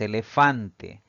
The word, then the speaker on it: elefante: Si dividimos en sílabas, tiene tres sílabas. Sin embargo, al pronunciar esta palabra, la mayor fuerza de voz recae en la penúltima sílaba, siempre contando de derecha a izquierda.